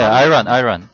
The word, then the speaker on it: Iran: 네, 아이란. 아이런 이렇게 있죠. 본토 발음이 나온대요, 지금.